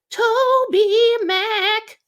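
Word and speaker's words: TobyMac: is on goatee records which is toby max toby mack that's the correct pronunciation okay just a really interesting guy happens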